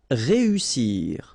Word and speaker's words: réussir: Réussir. Okay, so here, vowel, second vowel here, and then double S. So in that case, you've got to pronounce it like a real strong S.